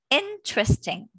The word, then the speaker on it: interesting: Listen, in interesting and different, there are silent letters. Remove this and put them together. Interesting.